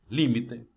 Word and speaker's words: límite: Vejamos: democracia, cerebro, imbécil, imã, álcool, alguien, alergia, cráter, elogio, academia, atmósfera, fútbol, gaucho, límite, oxígeno, régimen. Viu que a sílaba tônica é diferente de como se pronunciaria essa palavra em português?